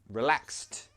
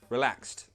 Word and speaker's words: relaxed: not relax said no relaxed say it like that relaxed good job so in that word we pronounce the ed like a t sound okay how about this